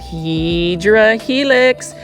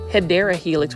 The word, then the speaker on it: Hedera helix: And for those that are new to the channel, I mispronounce Hedera helix, which is actually the correct way to say English ivy on purpose, just because that is an inside plant foldy joke.